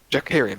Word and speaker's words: Jackarian: Jackarian is how he said his name.